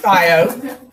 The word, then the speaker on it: thio: Okay, it's pronounced thio.